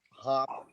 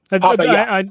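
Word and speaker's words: Hoppe: I will freely admit that I don't know enough about Hop, or I am not even sure how to pronounce his name. Hoppa. Hoppa. Excuse me. Thank you.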